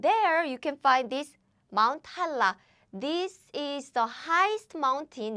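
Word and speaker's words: 한라산: And there you can find this Mount Hala. This is the highest mountain in South Korea. Highest mountain. Yes. And there is a perfect example of flowing.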